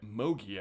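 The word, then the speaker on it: Mougey: Well, there's a new coach and GM in town, Aaron Glenn and Darren Mogi, I believe is how you say that name.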